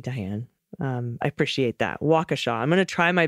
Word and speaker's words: Waukesha: is to say wrong the accent is on the first syllable not the second syllable as my Spanish words do in California it's Waukesha very well Waukesha gotcha